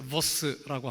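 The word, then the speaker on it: Vos: 보스라고 하는 분이 계시는데, 보스예요, 보스. 보스라고 하는, 보스는 우두머리를 말하고 보스. 제 입을 보세요. 보스. 게하르더스 보스. 한번 따라해 보실래요? 보스. 한국에는 B하고 이 발음에 구분이 없어요. 영어를 할 때 그냥 V하고 B하고 구분을 못해요.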